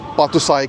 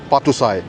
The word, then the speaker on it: Patuxai: Right जी, सो ये जगह है जी, इसको पातुसाई कहते हैं। अगर मैं स्पेलिंग करूं तो ये PATUXAI, पातुसाई, इसका मतलब होता है जी विक्ट्री गेट।